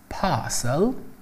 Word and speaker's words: parcel: ببینید در زبان بریتیش به بسته‌بندی میگن پارسل، که با اون تلفظ خودشون میشه پارسل، اون ر رو امیت میکنن، در حالی که آمریکایی‌ها به بسته‌بندی میگن پکیج.